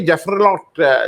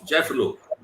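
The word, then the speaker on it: Jaffrelot: पहले आई है, क्रिस्टोफी जेफरलॉट, जो फ्रेंच राइटर, मैं हो सकता है उच्चारण मेरा गलत हो रहा हो, जेफरलॉट, वो क्योंकि अंग्रेजी, उनको बोला जाता है क्रिस्टोफ जेफलो। जेफलो, अच्छा टी साइलेंट है उसमें, क्रिस्टोफ अच्छा, जेफलो।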